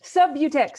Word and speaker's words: Subutex: that up this is not my field what spell it it's s-u-b-u-t-x-e-x sub-utex sub-butex thank you so sub-utex was the brand name